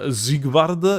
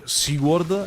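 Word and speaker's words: Siegward: I was German because I said ziegward instead of like SeaWorld I think is how people pronounce it um so like little bit of Dumbo trivia is definitely the correct pronunciation because it literally means like Zig is victory in German so like it's like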